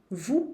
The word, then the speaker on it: vous: Vous parlez. Aqui o S não se pronuncia porque depois vem uma consoante.